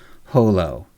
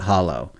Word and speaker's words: holo: He's like the only one as far as I'm concerned, he's the only one who's allowed to pronounce it holo. Everyone else really needs to pronounce it hollow.